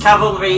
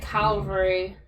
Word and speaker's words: cavalry: scouts cavalry is horses people pronounce it calvary and it's awful yeah loads of people